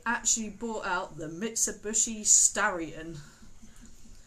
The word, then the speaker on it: Starion: Mitsubishi is Japanese, and it was supposed to be called a Stallion, but they can't pronounce that. So instead of Mitsubishi Stallion, they actually brought out the Mitsubishi Starion. Spelled Starion.